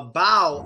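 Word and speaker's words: bough: this is the fourth way to pronounce it bow and what is a bow well a bow is pronounced bow a bow is the largest branch of a tree that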